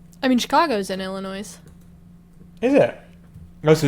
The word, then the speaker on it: Illinois: Oh, it's Don't pronounce the S. The S is Illinois. I was right. See, you know, we speak different languages. Perhaps in the south you say Illinois.